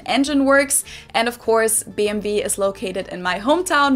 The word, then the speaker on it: BMW: In German, we say BMW because W is pronounced W in German, and it stands for Bayerische Motorenwerke, which means Bavarian Engine Works. And of course, BMW is located in my hometown, Munich, which is